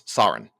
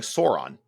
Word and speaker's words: Sauron: And I didn't know how to pronounce Saurin. Now you notice I'm doing it right now. I was saying Sauron until we're in the little studio